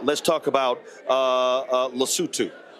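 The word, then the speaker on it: Lesotho: in his speech uh he literally mispronounced the mispronounced the country then folks started to actually laugh in the room uh it's called lutu okay their foreign minister said he was shocked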